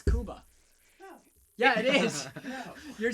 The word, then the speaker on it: Cuba: Kuba Hey Stephen yeah is it Kuba or Cuba no it's Kuba the natives call it Kuba it's Kuba yeah it is you're